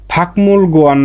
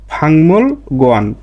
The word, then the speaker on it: 먹는: তাহলে এর উচ্চারণটা হয়ে যাবে ফাকমুল গোয়ান না হয়ে এর উচ্চারণটা হবে কি ফাংমুল গোয়ান।